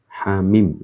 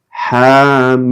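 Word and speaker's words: حم: Hamim. Ya. Bagaimana cara bacanya ini? Hamim.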